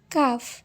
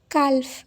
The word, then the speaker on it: calf: For example काफ, CALF, काल्फ नहीं बोलते क्योंकि L यहाँ पर साइलेंट है।